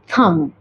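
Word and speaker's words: thumb: हम पढ़ेंगे लिम जैसे थंब टी एच यू एम बी थंब नहीं थंब जैसे ही ब्रोक अ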